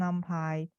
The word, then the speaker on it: NumPy: It's about a package called NumPy or Numpy. Okay, it depends on your pronunciation, and array.